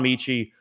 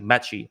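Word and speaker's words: Metchie: kenyon green jaylen peter john michie uh or i think it's actually metchy uh i think i've been pronouncing it wrong christian harris and then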